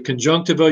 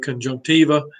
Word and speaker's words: conjunctiva: So you can call it the conjunctiva, you can call it conjunctiva, tiva, but this is a sort of a membrane, it's a tissue.